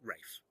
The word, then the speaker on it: Ralph: Ralph. That's how you say it. So Ralph. It's spelt Rafe. No, it's not. It's spelled R-A-L-P-H. That's Ralph. Yep. R-A-L-P-H, Rafe.